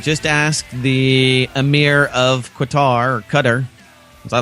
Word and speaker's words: Qatar: Just ask the Emir of Qatar, or Qatar, as I like to call it. I still want to call it Qatar. Qatar. I know there's a proper way to say it. It's Qatar.